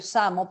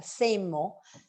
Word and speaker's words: SAMO: se llama su logo, que pues lo leemos en español Samo, pero él lo pronuncia Seimo, Seimo porque se refiere además a una frase y pues dice same old shit, que en inglés pues